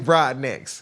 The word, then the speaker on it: Broadnax: research right your name is Rodriguez Jacquees broadnax broadnecks Broadneck yeah but I hate it for the damn substitute teacher that had to pronunciate that she wanted to call me Jacquees